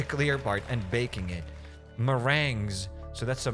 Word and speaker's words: meringue: Meringues. So that's a meringue. Okay. Okay. Well, meringues suck. Regardless how you pronounce them, they suck.